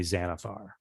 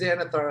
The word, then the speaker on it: Xanathar: possible it might be xanafar who's xanathar other than like the person who it's a beholder because it's pronounced like a z but it's an x yeah okay right yeah